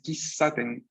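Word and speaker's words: 喫茶店: Tenemos aquí, claramente, ¿no? Una ki, una sílaba ki, una sílaba sa, una sílaba te y una sílaba n al final. Pero aquí mi Romaji me dice kisaten. Entonces hay una S duplicada. Pequeño tsu. Ki, pequeño tsu. Sa, te, n. Kisaten.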